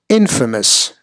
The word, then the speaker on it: infamous: the prefix in again logically you would think it would be in famous right but it turns out that that is incorrect and the correct way to say this word is infamous infamous so again the the kind of like the tip the stress of the momentum on this word infamous and not in famous not in famous